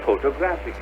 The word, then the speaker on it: photographic: And you have the camera, which is a photographic camera. See how the pronunciation of the word itself changes when the accent changes.